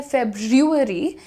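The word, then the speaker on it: February: आप या तो बोल सकते हैं फेबरी या फिर आप बोल सकते हैं फेब आर हटा दो एफ ई बी के बाद वाला जो आर है ना वो हटा दो आसान हो जाता है actually Feb Feb right Feb Feb right या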